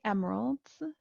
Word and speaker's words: emeralds: And then finally, emeralds, the second E is not pronounced.